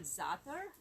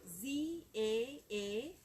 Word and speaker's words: za'atar: It's actually called za'atar. It's a Middle Eastern mix. It gives a really nice tangy flavor to the you know, different dishes. Can you spell that, please? Z-A-A-T-A-R.